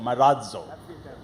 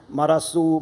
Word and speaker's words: Marazzo: z z o and we have a D sound coming just before Z so Maro everybody has to become